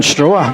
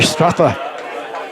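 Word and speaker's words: Straugheir: I'm pleased he told me how to pronounce it because I was saying straw but it's actually Stratha.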